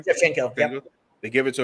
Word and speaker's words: Shevchenko: That's how you pronounce her name? Shevchenko, yep.